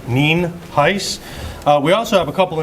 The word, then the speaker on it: Nienhuis: ninhais um it's spelled n-i-e-n-h-u-i-s and it's pronounced nien heiss we also have a couple individuals here that